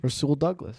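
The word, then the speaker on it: Rasul Douglas: Rul Douglas.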